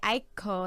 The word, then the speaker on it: Aiko: And then I looked and I'm like, okay, Aiko, like it's supposed to be two syllables.